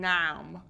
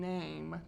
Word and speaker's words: name: I'm not going nam, I'm going name, because there's a silent E at the end. You don't hear it.